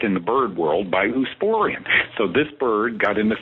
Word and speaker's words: Oosporein: In avian gout is caused by Eusporin. You probably know that. It's a mycotoxin. And so this bird got into Eusporin, and it's spelled Oosporein, and it probably was